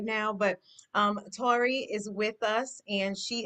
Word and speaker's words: Taurie: make certain that I pronounced it correctly. So please correct me if I did not. No, you said perfectly, Tori. Tori is Taurie, perfect.